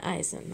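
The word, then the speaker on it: Esiason: collector and there's a boomer ice ice yeah eisen that's how you say it i've heard boomerasing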